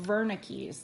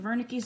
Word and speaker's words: Wernicke: is known as the wernickes this is a german word so although it starts with a w it's pronounced with a v sound okay um the pre-central